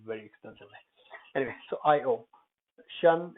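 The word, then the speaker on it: -tion: Shun, it's pronounced shun, not Tion, comes from French.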